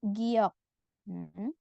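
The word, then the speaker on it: 기역: itu itu tadi huruf giokun silakan hafalkan nama hurufnya ya giok Kalau di awal dibaca G kalau di akhir dibaca k kita fokus ke cara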